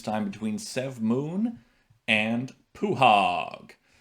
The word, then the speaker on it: pwhaug: between sev moon and puhog i know that's not how a lot of people pronounce his name but i pronounce it puhog so they drew the